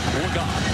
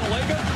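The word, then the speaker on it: Legault: We just got word that the preferred pronunciation of this quarterback is Cooper Legon. We've been saying Lega, a guy who wasn't expected to play, hadn't thrown a pass in his entire career.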